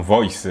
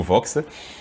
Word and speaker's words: Vox: Alors, Mille Mots Vox, au niveau de Vox, on attend VOI un peu comme la voix. Ouais. Il est vrai que dans certaines écoles, les gens prononcent mal en disant voice, en passant non, c'est Mille Mots Vox.